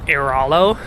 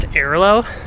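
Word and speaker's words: Airalo: you watch that video back really closely, I pronounced it as Iralo, because that's how I've always pronounced it. I've used them for years, and I've always pronounced them as Iralo, dude. And apparently they're pronounced Iralo.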